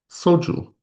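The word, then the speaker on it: 소주: So, for example, soju. So this is pronounced as though it's written with sangshut. It's written with just one shut, but it's pronounced as though it's written with sangshut. Soju.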